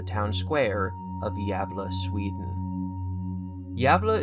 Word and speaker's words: Gävle: Square of yava Sweden yava is spelled gav l e and I apologize for my pronunciation of yava but that's the closest I can get to saying it right welcome to the absurds